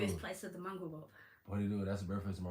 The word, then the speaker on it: Porirua: Porirua, p o r i r u a.